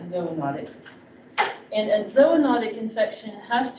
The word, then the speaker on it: zoonotic: So next definition about types of infection is whether an infection is zoonotic. Or some people pronounce this zoonotic. I like zoonotic.